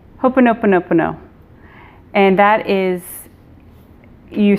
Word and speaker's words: Ho'oponopono: Guide, and it's an ancient Hawaiian prayer called Ho'oponopono. That's a lot of syllables. Ho'oponopono.